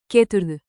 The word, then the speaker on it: Geturðu: Keep a rising question tone on the last syllable.